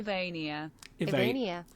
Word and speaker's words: Vania: pronounce things properly and this name is pronounced like this I wonder whether you can hear this a vania vania vania mm-hmm so if we